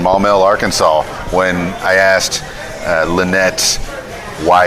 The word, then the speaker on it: Lynette: to me well give the people the correct pronunciation but it is Lynette so you got the name correct but my